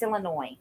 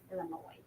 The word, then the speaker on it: Illinois: lot of countries um the S is silent in Illinois it's Illinois Illinois sorry um hi Jackie